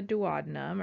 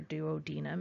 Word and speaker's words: duodenum: So the first portion of it is the duodenum, or duodenum if you want to be British and remember how to spell it.